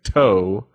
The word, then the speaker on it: Toe: He's going to bring us an album by a very interesting group, to say the least, named Toe, in their album For Long Tomorrow. Spell that out for everybody.